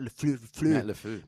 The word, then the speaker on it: LaFleur: How you pronounce it? Matt LaFleur.